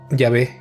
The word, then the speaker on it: Yahvé: De este modo, no sabemos con total certeza cuál era la pronunciación original, pero el consenso actual es que Yahé es la pronunciación correcta y es como se decía originalmente, aunque se han propuesto otras formas de pronunciarlo como yegua, yagua, etcétera.